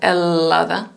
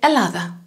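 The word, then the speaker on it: Ελλάδα: about double double consonants normally in greek we pronounce them as one so for example the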